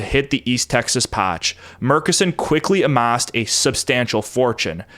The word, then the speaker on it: Murchison: which, by the way, this name looks like it should be pronounced Murchison. I read in a few places that it's pronounced Murchison, so that's what I will do.